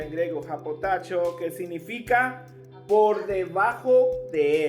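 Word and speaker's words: ὑποτάσσω: la palabra en griego a potasio diga conmigo a potasio suena como chino verdad Pero así se pronuncia en griego japotacho que significa por debajo de él la parte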